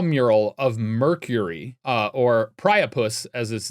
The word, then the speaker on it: Priapus: of Mercury uh or priapus as his name is. I probably mispronounced the A priopus. Really? A priopus? Priapus. Priapus. Wait, isn't that the terminology